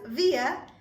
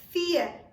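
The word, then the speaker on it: vier: pronounced as fear fear now even though the spelling says v i e r which is via we do not pronounce it as via but instead we pronounce it as fear fear because the pronunciation of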